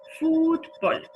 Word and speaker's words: fútbol: Fútbol, lo mismo, palabra llana que no termina en N, ni en S ni en vocal, le ponemos una tilde en la sílaba tónica.